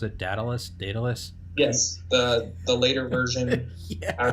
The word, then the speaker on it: Daedalus: I don't know how to pronounce it. Daedalus.